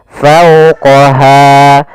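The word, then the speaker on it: فوقها: Fau di sini ada bacaan lin yaitu adanya fathah bertemu dengan huruf wau maka dia dibaca dengan lembut. fauqaha.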